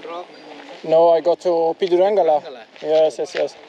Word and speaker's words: Pidurangala: I'm going to the small rock, Pidurangala. Finally, I know how to pronounce it. Are you the guardian of Pidurangala?